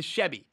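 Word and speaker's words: Tschuebi: I think it's T S C H U E B I. To Chevy, I think is how you say that.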